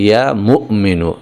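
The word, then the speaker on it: يا مؤمن: কিন্তু আসল উচ্চারণটা হচ্ছে ইয়া মুমিনু। এখানে মিমের পরে একটা হামজা রয়েছে। একটুখানি ধাক্কা হবে এভাবে।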